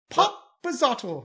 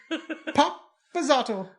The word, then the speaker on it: Papazotl: Popazotl. Papazotl. No, you got to put more of an accent on it.